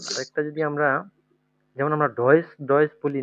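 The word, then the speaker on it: Deutsch: তাহলে হচ্ছে এখানে উচ্চারণ হচ্ছে কি? ডয়েস, হ্যাঁ।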